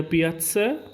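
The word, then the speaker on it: piazza: পিয়াজে, পিয়াৎসে, পিয়া, এটা পিয়াৎসা, পিয়াৎসে। পিয়াৎসা উচ্চারণটা একটু আলাদা, পিয়াৎসা, পিয়াৎসে।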